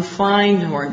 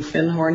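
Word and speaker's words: Findhorn: he said I said do you have anything un find horn because I'd found a book called The Magic of thorn and he corrected my pronunciation he said you mean fin horn he said our fin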